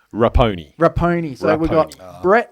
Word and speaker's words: Raponi: diabolical how do i say your last name rappone rappone so we've got brett lapony good idea